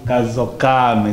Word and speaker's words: Kazokame: Como é que se pronuncia? Kasukame.